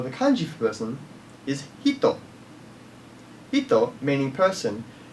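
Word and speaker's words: 人: The word for person, or the kanji for person, is hito. Hito, meaning person, when used in part of a sentence, is pronounced as jin.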